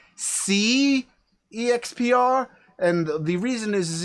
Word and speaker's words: SeExpr: x p r and i actually believe it's supposed to be pronounced c exp and the reason is